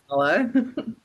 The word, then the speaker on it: Ballagh: It's however you want to pronounce it, but we say Ballagh.